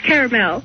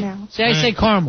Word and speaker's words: caramel: It's caramel. Caramel. I say caramel. I take that A out.